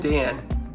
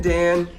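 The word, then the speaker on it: D'an: Figrin Dan, maybe more accurately pronounced Figrin Dahan, he is a rock star.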